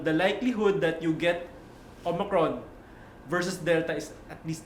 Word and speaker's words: Omicron: today's topic is going to be on the omicron yes it's not pronounced omicron it's pronounced omicron variant of the kovit 19.